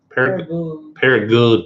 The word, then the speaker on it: Paragould: Paragould. You got to say it like that. I was corrected recently.